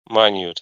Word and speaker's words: minute: and he said that this word like has different pronunciation from Context yeah it's like a minute if it if it is about time it's minute yeah but if it is about size maybe minute here in the most and